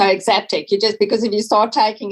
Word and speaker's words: Exaptec: Tell us about Exaptec. Exaptec, yeah. So you don't actually, I say to people, the best way to pronounce is don't look at it, just roll. Just go Exaptec.